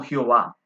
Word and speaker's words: Jehová: largo de la historia algunos la pronunciaron como ya ve y otros de diferente manera como jehová podemos ver que esta